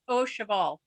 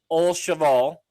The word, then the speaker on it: Au Cheval: Can you help me with this pronunciation? Sure, it's Au Cheval. Au Cheval.